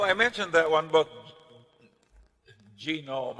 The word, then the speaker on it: genome: mentioned that one but genome I have a hell of a time putting the accident on the first syllable but that is a